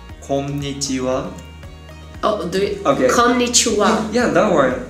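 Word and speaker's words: こんにちは: Okay, in Japanese we say konnichiwa. Konnichiwa. Yeah, that word. Konnichiwa.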